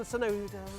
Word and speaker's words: Tsunoda: Sainz, Alonso, Stroll, Ocon, Tsunoda. Tsunoda's so difficult when you see a T and you're English and you're like, well, that can't be an S, but it is. That's the way it's pronounced, Matt.